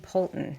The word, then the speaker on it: Poulton: And our guest today is Natalie Poulton. Did I pronounce that correctly, your last name? You did, yes.